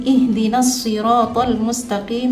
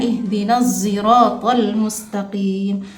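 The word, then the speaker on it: اهدنا الصراط المستقيم: Kemudian pada ayat keenam, Imam Kumbul dari Ibnu Katsir melafalkan huruf shad dengan sin. Jadi ihdinasiratal mustaqim dibaca dengan sin. Shadnya dibaca dengan sin. Ihdinasiratal mustaqim. Sedangkan Imam Khalaf dari Hamzah membaca dengan ismam pada huruf za. Jadi dibacanya ihdinasiratal mustaqim. Sedangkan imam-imam yang lain membaca dengan huruf shad.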